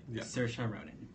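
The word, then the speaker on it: Saoirse Ronan: Cir Ronin. Yeah. I can't do that. Great. Wow. Um, you look at the spelling of her name and you probably want to get that immediately, but Cersa Ronin, I remember when she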